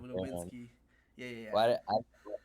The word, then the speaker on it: Nowitzki: Like V's are W's are V's in German. That's why Dirk Nowitzki is Dirk Nowitzki instead of Nowitzki.